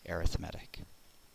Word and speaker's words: arithmetic: things to come and I know it's spelled arithmetic but in this uh context we say arithmetic all right let me